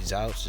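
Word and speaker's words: Zuch: 79% advantage play against TJ Zouch, that's how you pronounce it, but nonetheless in a horrible spot for him because he get crushed by lefties, a 900 OPS against lefties.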